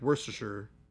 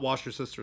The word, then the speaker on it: Worcestershire: Like Worcestershire, I'm pretty sure is the correct way to say it. Not wash your sister sauce.